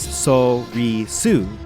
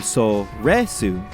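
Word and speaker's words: Soresu: saying it normally mccoshen the longest time I pronounce this word as so we sue but I have recently changed over to so read soon the reason for this is because within the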